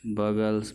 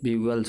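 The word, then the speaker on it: bugles: Toys sweets बगल्स balls, ये ब्यूगल्स होता है, सॉरी, टॉयज स्वीट्स ब्यूगल्स बॉल्स, इसका प्रोनाउंसिएशन ब्यूगल्स होता है।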